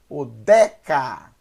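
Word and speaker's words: אודך: Então eu tenho Odeca, Odeca, O, primeira sílaba, D mais E, D, segunda sílaba, e K mais A, terceira sílaba.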